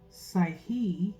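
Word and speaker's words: psykhe: soul mind and spirit that's p s y k h e okay okay okay so that K is in my opinion how I'm pronouncing it is kind of Silent okay so what lights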